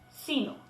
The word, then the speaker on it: sino: del signo conjunción adversativa podemos distinguir un ligero acento prosódico en la primera sílaba si se escucha sino en cambio cuando si